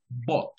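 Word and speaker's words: bought: No, no, no pronuncio ninguna U, ahí dices bot.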